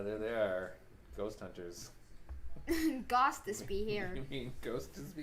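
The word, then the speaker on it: Gostisbehere: Here's how his name is said. Ghost is be here. Ghost has me here? That's how it's spelled. If you spelt it like it says, it's Ghost is be here. Except there's no H in Ghost.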